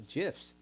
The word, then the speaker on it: GIF: to them as a gifs it doesn't matter I'm behind audio crazy on this it's a hard G like it or not okay it's a G